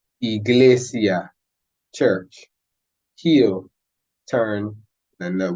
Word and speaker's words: iglesia: same sound as the it's going to be pronounced like the English letter E in English that would be in Spanish so e e Iglesia Church heal turn and